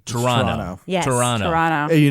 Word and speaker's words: Toronto: say it guys say Toronto do not pronounce a second te you don't pronounce second T not if you're a